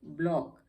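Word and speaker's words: block: BLOC के ब्लॉक, C की यहाँ भी साइलेंट हो जाता है।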